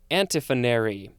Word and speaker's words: antiphonary: is an adverb and now we have antiphonary that's how it's pronounced a-n-t-i-p-h-o-n-a-r-y it's a noun